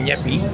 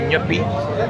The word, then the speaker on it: Nyepi: And you got to pronounce it like that. You can't say nep. say nippy.